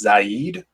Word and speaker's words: Zaid: It's pronounced Zaid.